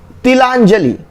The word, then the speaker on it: तिलांजलि: तिलांजलि, तिलांजलि, ली में बड़ी की मात्रा नहीं, तिलांजलि, बोलते समय ही देखिए कम समय दीजिए, तिलांजलि, तो इसमें हो गया तिलांजलि में ल में छोटी की मात्रा, तिलांजलि।